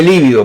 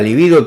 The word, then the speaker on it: libido: Pero la libido, yo digo libido porque esto no tiene tilde, ¿eh? Todo el mundo dice líbido, pero eso no lleva tilde, entonces yo digo libido, ¿verdad?